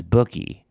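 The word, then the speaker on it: Njoku: strong handshake and as bookie the emphasis was on the first syllable which rhymes with Buie Muki so from an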